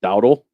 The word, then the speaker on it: Dowdle: That running back for Dallas, how do you say his name? It's Dowdle. Like Dowdle? Dowdle. Dowdle looked really, really good yesterday.